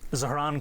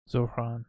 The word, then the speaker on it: Zohran: Zohran Kwame Mamdani. Zohran.